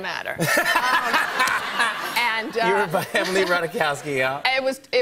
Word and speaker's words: Ratajkowski: At one point, I was standing between Kendall Jenner and Emily Radajamowski. - Ratajkowski. The J is silent. -It doesn't -- It doesn't matter. -You were by Emily Ratajkowski, yeah.